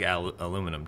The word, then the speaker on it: aluminum: Well, that's like aluminum too.